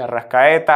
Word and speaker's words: Arrascaeta: de de arrascaeta pero que es que se pronuncia el nombre entonces finalmente de arrascaeta hace forlán arriba siguen cavani y suárez y